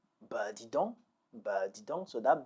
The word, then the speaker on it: dis donc: Let's work on the pronunciation now. Dis donc, dis donc, or dis donc, dis donc.